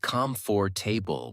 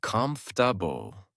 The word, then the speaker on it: comfortable: For example, I used to say "comfort table" with 4 syllables. Then I heard native speakers say "comfortable."